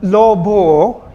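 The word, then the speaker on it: lobha: If it occurs at the end of a syllable, O should be pronounced as long vowel.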